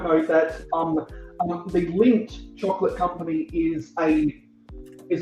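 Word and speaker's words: Lindt: about the the L it's spelled like l i n DT or something like that right yeah yeah it's got a silent it's got a silent in it and so my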